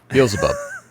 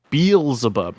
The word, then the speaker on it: Beelzebub: Beelzebub. Beelzebub, not Beelzebub. Think like Beelzemon from Digimon, but instead of Mon, you just put Bub.